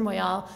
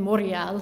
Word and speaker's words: Moyal: for anything by esther moyal and they all for some reason pronounce her name moria don't ask me why